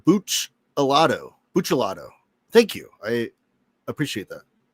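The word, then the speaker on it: Buccellato: It's pronounced Buchalado.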